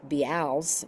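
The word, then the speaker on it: Bealls: Although there is a Florida store called we call it Be's but they they call it Bells even though it's spelled B E A L Ls.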